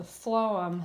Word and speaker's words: phloem: memory helper is that the phloem has that F sewn in the beginning although it's spelled as a pH but you think food phloem both says the F sound it carries the food